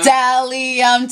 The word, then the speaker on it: Bdellium: Bdellium Tools. The B is silent.